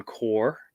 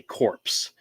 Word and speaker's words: Corps: about the green lantern core which is a comic series and from dc i would always screw up and say corpse which is not how you pronounce that word but they used to